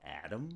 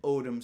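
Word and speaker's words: אֹדֶם: Here is a picture of an odem stone, a carnelian stone. Again, it's spelled with the same letters, Aleph, Dalet, Mem, just pronounced in a slightly different way. Instead of saying Adam, we say odem.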